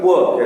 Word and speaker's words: poor: उसका spelling POUR है और POOR देने से वो गरीब हो जाएगा, पुअर। उसे हम लोग पुअर कहते हैं, पुअर, और इसे हम लोग कहते हैं पोर, ठीक है।